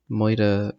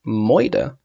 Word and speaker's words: Moida: I'm going to play Moa Mansion, which I've realized is supposed to be pronounced Mida Mansion, like murder.